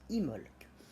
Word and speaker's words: Imbolc: parler du sabbat dimbok qui s'écrit imble que mais se prononce immolk nous allons parler de